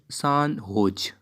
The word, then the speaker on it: San Jose: stop recently comma the san jose pronounced san hoj state university comma of which